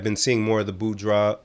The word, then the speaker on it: boudoir: have, and I've been seeing more of the boudoir.